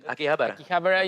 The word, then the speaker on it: Akihabara: this please yeah howie yes how can i pronounce akihabara oh that's it that's good akihabara is the premier location for shoppers and collectors